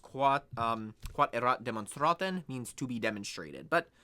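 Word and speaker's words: quod erat demonstrandum: In Latin, it's pronounced quod erat demonstraten, means to be demonstrated.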